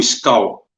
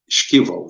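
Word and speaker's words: Шквал: alvo para demonstração do Skal, se escreve S-K-V-A-L, Skival, né? Skival, Skal.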